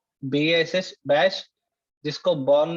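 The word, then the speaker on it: Bourne: उस बॉर्न again shell मतलब, बॉर्न मतलब ये तो उसका सरनेम है, लेकिन बॉर्न को उसका प्रोनाउंसिएशन बॉर्न है ना, BORN जैसा, बॉर्न अगेन शेल, वापस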